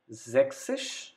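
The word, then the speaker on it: sechzig: 30 drai number 60 sexish again discard s from six the remaining word sick then add sis to it sexish sixteen seventy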